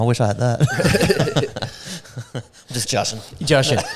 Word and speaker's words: Jashan: Just Jashan. Jashan. What is it? Russian with a J. Yeah. I say that. And people are like, oh, how do you pronounce it? It's like Russian with a J.